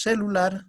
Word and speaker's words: celular: En la palabra celular, decimos celular, celular o celular, celular. Entonces, ¿dónde está la mayor fuerza de voz? En la sílaba lar.